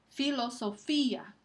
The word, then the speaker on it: filosofía: Filosofía. En este caso, fi es la sílaba que recibe el énfasis y el acento ortográfico está encima de la i para marcar ese hecho.